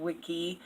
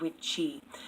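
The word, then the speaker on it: wicce: I think I actually mispronounced them in one of my videos on witchcraft and Wicca, and I actually said Wicca and Wiki, and it's actually witcha and witchy. W-I-C-A, W-I-C-E.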